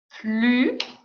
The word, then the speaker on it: plus: qu'il ya écrit ici plus le s je ne prononce pas ok plus petit thé